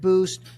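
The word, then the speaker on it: Buiced: brand called boost it's spelled like the word Juiced with a B so bu UI c d so I created boost launched it in 2013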